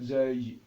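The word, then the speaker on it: زاي: Donc en arabe, on appelle zay, zay.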